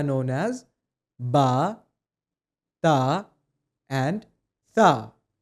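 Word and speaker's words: ث: To pronounce the letter tha correctly, you need to place the tip of your tongue underneath the front two teeth of your upper jaw like this. After it, you'll be saying the sound sa which will give you tha.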